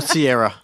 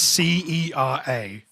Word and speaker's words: Cera: Michael Sierra, Michael Sierra. How do you say it? Michael is Michael Cera. Sarah, it's Cera, Gosh, not Sierra.